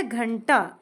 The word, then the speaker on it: घंटा: अब यह आया घंटा। इसमें ण आधा है। इसे हम ण के रूप में पढ़ेंगे। अब उसका साउंड थोड़ा न जैसे आता है।